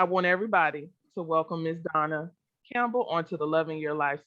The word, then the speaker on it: Dawna Campbell: My guest today is Dawna Campbell. Now I gotta get my pronunciation right. Dawna Campbell. Got to put that W in there.